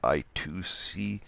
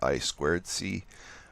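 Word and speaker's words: I²C: at a later date over here we have I squared C you may see something that you might come across something it says I to see the correct pronunciation is I squared C it's a another protocol for communicating with other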